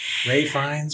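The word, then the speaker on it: Ralph Fiennes: Joy who plays Margot Ralph is it finesse is that how you pronounce like Ray Finn Vines okay ray fines Voldemort um yeah I'm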